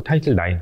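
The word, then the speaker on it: Title IX: 현장에서 인종의 차별을 해소하려고 타이틀 요거 나이틀 나이라고 읽어 주면 돼요 타이틀라고 읽지 마시고 타이틀 나인 라틴어 든요 이게 어떤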